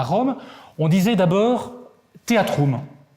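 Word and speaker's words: theatrum: On disait d'abord théâtrum. Théâtrum, comme ça se prononce. T-H-E-A-T-R-U-M. Et théâtrum, c'est un mot qui vient du grec, le théatron.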